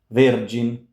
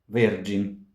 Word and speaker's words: Vergin: Much like in vergin, a G followed by a front vowel gives us J, J.